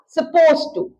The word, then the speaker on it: supposed to: अब बोलते समय ये सपोज टू लग रहा है, लेकिन आप ध्यान रखेंगे सपोज्ड होता है। ईडी को हम बहुत प्रोमिनेंटली नहीं बोलेंगे तो प्रोनाउंसिएशन रहेगा सपोज टू।